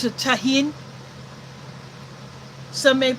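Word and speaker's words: Tajín: You get mixed fruit and you put there's a spice mix which is called I pronounce it tahin. Some may pronounce it tajin.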